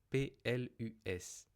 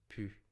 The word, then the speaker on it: plus: Onécrit plus P L U S, mais on prononce plus ou de manière informelle, vraiment informel, pu.